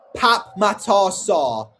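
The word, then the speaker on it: Pape Matar Sarr: Pape Matasar. I think that's how you pronounce his name. Pap Matasar, that's how you pronounce it.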